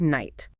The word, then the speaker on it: night: Think about the K in the word night. Structurally, it is part of the word's DNA. You have to account for it when you spell it. But when you evaluate the word out loud, it vanishes. It makes no sound.